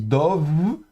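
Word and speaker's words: דב: Et donc on prononce toujours la première consonne, et puis le point, donc do, et puis le bet, ici fricatif, parce qu'il est précédé du cholem, donc élément vocalique, donc dov, et puis avec le tséré, et puis le resh final, donc dov, vert.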